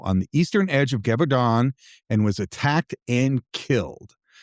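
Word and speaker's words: Gévaudan: It's the beast of Gevaudan, and that is Gevaudan. Gevaudan is how I'm going to pronounce it. It's at least as close as I can get from the Google pronunciation guide.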